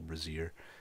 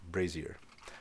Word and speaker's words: brazier: I call them B I used to call them bazer since when I was a kid playing kings Quest 3 the charcoal braier I still call braier but obviously a Brazier is something completely different it's pronounced brazer all right uh let's